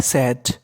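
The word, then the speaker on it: said: द बोलो द बॉय सेड एस ए आईडी को क्या पढ़ना है सेड द बॉय सेड आई एम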